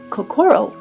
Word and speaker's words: kokoro: We have lovingly Americanized the pronunciation of kakoro with the emphasis of core in the center because the heart is in the center of everything we do.